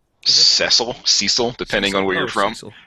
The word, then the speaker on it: Cecil: A year ago and his name was Cecil not cesil none of that you know spelled the same he was spelled the same yeah but they they approach